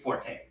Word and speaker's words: forte: many people use that incorrectly really it's not forte it's fort actually fort forked you don't pronounce the a like in the french style